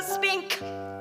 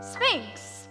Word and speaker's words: Sphinx: You're as tight-lipped as an oyster and as silent as an old Sahara spink. Sphinx. What? Sphinx. No, a spinka. Oh, well, you spell it with an X.